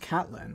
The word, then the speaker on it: Katelyn: Thank You Katelyn oh is it pronounced Catlin I just realized there's no I that Catlin Mike going crazy is it Caitlin or Catlin have I